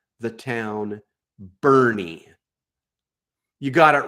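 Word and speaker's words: Boerne: It's really easy to pronounce Pflugerville. There are towns like Bernie. I dare anyone from Texas, not from Texas, to spell the town Bernie. You got it wrong. It's B-O-E-R-N-E, Bernie.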